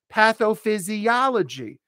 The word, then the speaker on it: pathophysiology: Pathophysiology. Repeat. Pathophysiology. 7 syllables. Not easy. Pathophysia. So the 5th syllable gets the stress. Pathophysiology. Repeat. Excellent. That's how you say it.